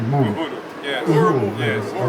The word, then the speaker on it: Uhuru: UHURU, yes.